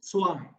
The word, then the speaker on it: zwei: That Z is pronounced as sir, or tsunami, sir, utsav, sir. Okay, if you cannot, it is not literally chur, it is sir, utsav, sir. Okay, so it is swai.